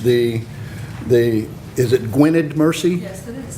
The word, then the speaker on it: Gwynedd: So without any further ado, I'd like to introduce Carol Breslin, and forgive me if I mispronounced the is it Gwynedd Mercy? Yes, it is. Gwynedd Mercy University and the Pearl S.